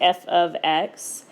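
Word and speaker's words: f(x): I do want to mention that this thing is, if you're saying it, it's pronounced f of x. Most of the time, by the time people get to precalculus, they realize that it's not f times x.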